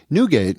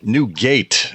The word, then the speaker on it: Newgate: needs nougat well um new gate as it's spelled NE ewg a te um perhaps colloquially pronounced as nougat in the local area um yeah this is